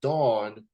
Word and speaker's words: davvn: a unique name and it's pronounced as the soap that you use to wash your bodies and things like that uh they go by the name of Dawn and that's for two